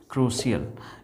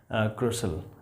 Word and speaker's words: crucial: सी के बाद यदि आई और ए आए तो इसका उच्चारण स होगा, इसका उच्चारण स होगा।